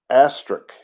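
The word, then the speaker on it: Astruc: physician whose name was astrich a-s-t-r-u-c-astric i guess is how you say that uh and he when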